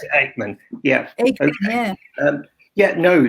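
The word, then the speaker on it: Aickman: We pronounce it Eichmann.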